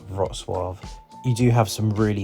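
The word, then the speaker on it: Wrocław: Again, it's not pronounced Rogclaw, but it's pronounced something like Roswav.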